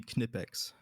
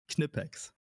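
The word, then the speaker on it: Knipex: Uh if you if you pronounce their name in German, it would be Kipex.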